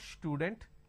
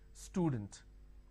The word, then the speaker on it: student: word which is student lot of people make a mistake and they pronounce this with a sure student it's not student it is student all right now when